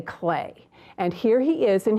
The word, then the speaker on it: Klee: Now, Paul Klee, remember we learned that his name is spelled K-L-E-E, but we say clay.